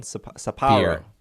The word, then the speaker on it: Sapporo: How do you say that one? Sapporo. Beer. That's all you have to say.